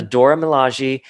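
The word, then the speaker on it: Dora Milaje: he traces them back to ayo from the dora malaji i did i pronounced that right yeah yeah yeah you did the dora milaji and ayo is like i want zemo because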